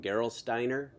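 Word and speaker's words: Gerolsteiner: Um you mentioned US Postal, Robbo Bank, uh I'm going to say it wrong, Geral Steiner.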